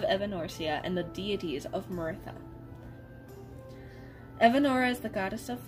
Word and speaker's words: Meiratha: so yeah martha also i forget how i wrote it to be pronounced i'm pretty sure it's maritha but i i probably say it wrong multiple times so yeah maritha